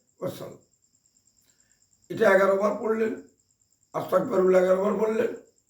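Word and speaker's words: أستغفر الله: ওয়াসাল্লাম সাল্লাল্লাহু আলাইহি ওয়াসাল্লাম এটা 11 বার পড়লেন আস্তাগফিরুল্লাহ বার পড়লেন আস্তাগফিরুল্লাহ আস্তাগফিরুল্লাহ এতগুলা যদি না পারেন অন্তত শুধু আস্তাগফিরুল্লাহ আস্তাগফুল আসতাক প্রায় লোকে আসতাক বলে এখানে ক হবে না কাফ হবে না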